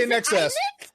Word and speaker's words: INXS: INXS. Is that in excess? In excess. In excess. I would never know that.